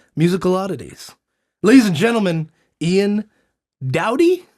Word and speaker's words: Ian Dowdy: Ladies and gentlemen, Ian Dowdy? Is that how you pronounce it? Yes. Ian Dowdy.